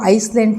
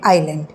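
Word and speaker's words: island: है नाइफ बोलना है आइलैंड आई एस एल ए एन डी यहां पे हम उसको आइसलैंड नहीं बोलते ईलैंड नहीं बोलते हैं एस वहां पे साइलेंट है हम उसे बोलते हैं आइलैंड तो ये ये जो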